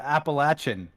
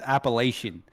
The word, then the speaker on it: Appalachian: people from the mountains they call it appalachin but I'm like bro you come you come over here it's pronounced Appalachian she's like you better